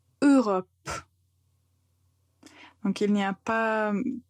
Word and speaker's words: Europe: Quand on prononce ce mot, la première lettre ou le premier son que vous entendez, c'est juste E. E. Europe. Donc il n'y a pas d'autres sons, n'inventez rien, juste tout simplement Europe.